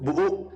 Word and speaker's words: buuk: Kalau di Madura pengucapannya tuh buuk. buuk. Oh ya nggak ada k-nya tuh jadi petik gitu. Buuk. Betul, enggak jadi ain. Buuk. Iya, pakai ain ya.